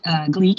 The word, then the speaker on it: GLEAC: GLEAC, it's geek with an L.